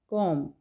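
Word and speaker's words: comb: बी यहाँ पे silent है, प्रोनाउंस नहीं करेंगे, कॉम।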